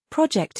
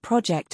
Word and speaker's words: project: your name as well, project it loudly." One more time. Now, in this case, we are not talking about project as in a noun, but it's used as a verb.